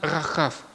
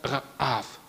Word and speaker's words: Рахав: Иерихонской, а стоит именно Рахав. Просто это хет, прошу прощения, хей, она не читается. Это как придыхание. То есть это буквально Раав. Рахав.